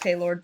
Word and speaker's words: Palar: It is pronounced Paylord, but I think, yeah.